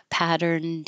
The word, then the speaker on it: patterned: if there was a consonant after it like patterned wallpaper you won't hear the D but you'll just have to know that it's being used as an adjective if there was a vowel after it then you would hear it patterned everywhere patterned all over something with a vowel but just by itself pattern and before a consonant pattern wallpaper pattern okay by itself